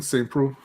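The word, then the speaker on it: Saint Preux: Shogun versus Saint Petrix, P-R-E-U-X. Yeah, Oven St. Preux.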